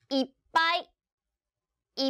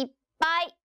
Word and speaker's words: いっぱい: ぱいダメあんでよ小さいつです発音する時はいっぱい 1度息を止めていっぱいはいこれも小さい